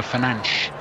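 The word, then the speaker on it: Fernandes: on the fifa game bruno fernandez pronounced by the commentator as bruno finance in the proper sort of portuguese style portuguese yes and if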